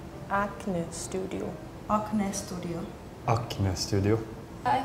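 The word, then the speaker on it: Acne Studios: would say an Studio I also noticed that the a sound as different we say it like a but you guys kind of say like a studio acne Studio acne Studio acne Studio acne Studio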